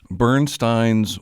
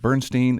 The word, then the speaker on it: Bernstein: this film is that I have been mispronouncing Leonard's last name for a number of decades I always thought it was Leonard Bernstein it's Leonard Leonard Bernstein and that was just